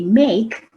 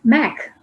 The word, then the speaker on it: make: the meaning and then when you say make it's not mac like in macintosh the next part is